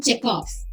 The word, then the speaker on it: Chekhov: Even though the last letter is V, it is pronounced as F. F අකුරේ තමයි pronounce කරන්නේ. Anton Chekhov.